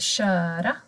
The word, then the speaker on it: kör: Verbet att köra, då blir det kö.